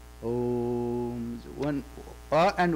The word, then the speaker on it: Om: Actually, a, u, ma. Om. And another sect is there. In India, they say oim. A, e, ma. But actually, o, a, u, ma. If you pronounce that a is a starting point. Ma is a sparsha varna, that means it ends, closes. No touch. Om. A, u, ma and nasal sound.